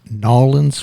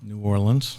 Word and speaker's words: New Orleans: Eric is with a Rigby Financial Group in N'awlins Louisiana how do you say that Eric New Orleans New Orleans okay one of those kind of